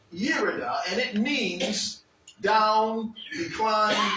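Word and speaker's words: ירידה: But it is pronounced Yerida, and it means down, decline, descent, drop, fall, and going down.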